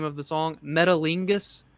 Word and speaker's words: Metalingus: Metalingus. It's metal, and then Ingus is like the right. So I'm assuming it's Okay. Metalingus, something like that.